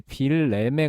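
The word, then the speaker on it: Wilhelm: 그래서 뭐 우리 말로는 빌름이라고 하는데 이제 그 독일 사람들은 거의 빌렘에 가깝게 발음합니다. 빌렘.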